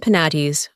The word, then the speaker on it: Penates: It is to be observed that in proper names the final E and Es are to be sounded. Thus, Sibyl and Penates are words of 3 syllables, but Proserpine and Thebes are exceptions, and to be pronounced as English words.